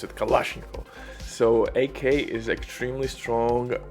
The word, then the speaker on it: Kalashnikov: I This is how we pronounce it, Kalashnikov.